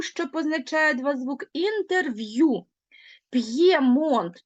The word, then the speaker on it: П'ємонт: позначає два звуки інтерв'ю П'ємонт тобто чуєте Ми чуємо чітко роздільну вимову звук п твердий звук є позначає два звуки так само Рів'єра в